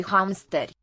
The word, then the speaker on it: hamsteri: Doi hamsteri. What could it be? Okay, and this is not pronounced ri. Hamsteri. Instead. Hamster. Hamster. So, just Hamster. silent letter I here.